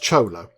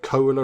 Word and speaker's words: Chola: think it is pronounced Chola I think that's how you say I was pondering last time Cola or Chola or something I think it's Chola as the sun rises